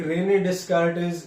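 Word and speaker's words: René Descartes: एक रेने डेस्कार्टिस, ये एक हमारे ही वाज द फ्रेंच mathematician.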